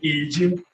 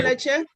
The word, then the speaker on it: Ejim: With utmost respect and humility to my noble Lord, my name is Ejim. Leche? Ejim is spelled E-J-I-N.